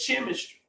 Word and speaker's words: chemistry: pronounced a different way CH normally makes what sound right like church right chimney so many more CH sounds why isn't it chemistry why is CH making the sound of s Edge I might